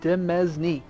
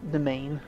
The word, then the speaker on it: demesne: how you pronounce it it just doesn't feel right cuz it looks like demesne I mean just look at it d e m s n e demesne demesne not domain but whatever all right